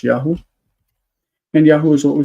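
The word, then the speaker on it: יָהוּ: So what happens is that this V would change to U, and the syllable would like this. This syllable is now in an open. It's open, so it becomes long, and it's Yahoo.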